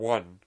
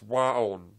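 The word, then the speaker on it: WAON: I thought it was supposed to be one, but it's wa-on card.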